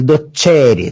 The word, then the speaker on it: docere: Olha, eu pronuncio docere, tá? O C com tom desse T chiado aí.